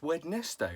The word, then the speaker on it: Wednesday: It should be pronounced Wednesday, right?